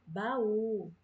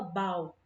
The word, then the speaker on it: baú: Olha, na palavra baú, baú. Olha isso, olha, as sílabas, pela pronúncia, a gente não fala bau, não fala bau, né? A gente fala baú, baú, baú, certo?